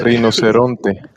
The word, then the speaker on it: rinoceronte: Yeah, Rinoceronte.